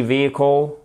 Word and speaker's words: vehicle: Sports Utility Vehicle. OK? Sports Utility Vehicle. On ne prononce pas le H d'ailleurs dans vehicle.